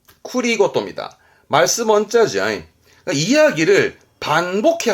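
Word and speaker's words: 繰り言: 요 쿠리카에스 하고 또 봐두셔야 할 게 쿠리고토입니다.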